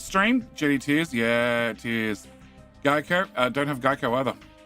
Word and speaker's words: Geico: Uh, it's pronounced Geico. The mascot is an English-speaking gecko. Okay. Uh, Geico is how it's pronounced.